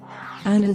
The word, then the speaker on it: Annan: Annan said that his surname rhymes with "cannon" in English.